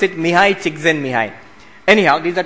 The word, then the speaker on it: Csikszentmihalyi: You pronounce it Mihai Csikszentmihalyi.